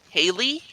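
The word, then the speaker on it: Halle: in the eastern German town of Haley that's our water pronounced at H a ll e this one suspect has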